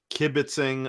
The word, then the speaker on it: kibitzing: about the big stuff, we're going to do kibbitzing about the small stuff. Did I pronounce that right, Matthew?